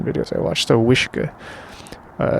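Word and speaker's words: uisce: e a t a so wish pretty sure it's i don't know i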